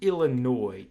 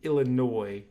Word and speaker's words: Illinois: this is not illinois you pronounce it illinois illinois the s on the end of silence i talked about this